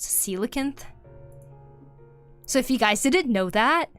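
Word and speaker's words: coelacanth: I used to call it a coelakinth. It took me a long time to realize it's actually pronounced silicon.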